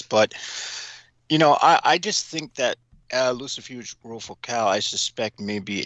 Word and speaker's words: Lucifuge: By the way, tell us how you pronounce Lucifuge. Am I saying that correctly? Lucifuge.